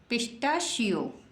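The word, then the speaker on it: pistachio: क्या लिखा हुआ है पिटा शयो पिटा शयो मीस होता है पिस्ता इंग्लिश हिंदी में बोलते हैं पिस्ता और पिटा श बोलते हैं इंग्लिश में किसम बोलते हैं इंग्लिश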